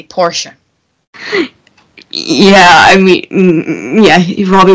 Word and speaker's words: Porsche: I mean, he did go kaboom in the Porsche. Yeah, Porsche. Let's say it correctly, Porsche.